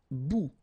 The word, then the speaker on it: bout: Un bout. Remember, final T not pronounced.